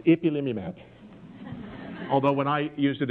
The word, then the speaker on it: ipilimumab: It was a key trial with a medicine which I learned to pronounce ipilimumab.